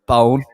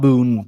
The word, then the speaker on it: Bone: So respect for Bone, as they prefer it to be pronounced. Is that pronounced? Yeah, Bone. Yeah, Bone. Yeah. So not Boone, Bone.